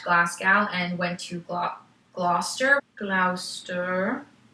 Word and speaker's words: Gloucester: he had left Glasgow and went to Gloucester Glouster pronunciation Gloucester with his two young daughters Charmaine and